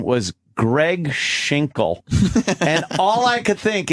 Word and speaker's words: Schinkel: guy is a bleak shingle correction Greg Schinkel friend shake no it's spelt s CH i NK l yo up shingle